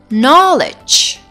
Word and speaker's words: knowledge: examples are knee knock knowledge or no so here you cannot pronounce the letter K because it is coming before the letter and it is silent so my dears today